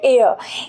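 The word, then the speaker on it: heir: N next देखिए यहां पे लिखा है एच ई आई आर हियर नो इसका जो प्रोनाउंसिएशन होता है वो होता है एयर एच हमारा जो होता है वो साइलेंट होता है तो मतलब इसका फर्स्ट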